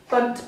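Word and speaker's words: Bundt: and this is called a bunt i think that's how you say it's about b-u-n-d-t bunt pan and it basically means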